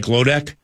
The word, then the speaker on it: Glodek: Did I say it right, Glodek? Yep, you said it right, Glodek.